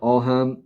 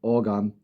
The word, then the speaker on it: Ogham: It shows the symbols called Ogham, pronounced, oh yeah, it says a pronounce here right here. Ogham or Ogham, which is an elderly form of Irish writing placed around concentric circles.